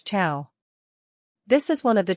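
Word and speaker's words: ciao: chiao in casual situations pronounce Chia as chiao this is one of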